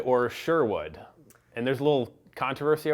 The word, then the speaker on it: Sherwood: How you pronounce it depends on where you're from. When we first named the band this, I had only heard the word Sherwood, with an English accent, as in the Disney Robin Hood movie, and so